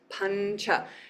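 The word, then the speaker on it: pañca: In the next row down, and the example I'm going to use forever is the number 5, pancha, pancha. And the na, nya, follows the cha, pancha.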